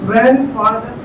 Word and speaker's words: grandfather: the prophet muhammad so when we use the grand word in relation we cannot pronounce the word he silent them so it is grandfather grandmother granddaughter and so